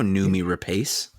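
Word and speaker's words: Noomi Rapace: segment of her show how how do you pronounce this name nume oh i know nume rapace yeah there you go i've seen her indeed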